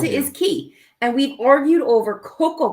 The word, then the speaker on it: cay: you pronounce it is key and we've argued over Coco K because even the song says Coco okay but c-a-y is pronounced key in the Bahamas your sister has joined